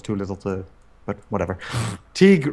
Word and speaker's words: Teague: Teague Robertson $5 pronounced like league, but with a T.